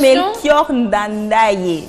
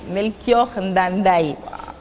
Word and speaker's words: Melchior Ndadaye: La prononciation... Melchior Ndadaye. Melchior Ndadaye.